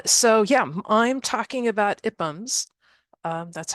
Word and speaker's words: IPUMS: So yeah, I'm talking about IPUMs. That's how it's pronounced.